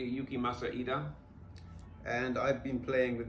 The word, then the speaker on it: Yukimasa Ida: And in the intervening time, I've had a call from the artist to pronounce his name correctly, Yukimasa Ida.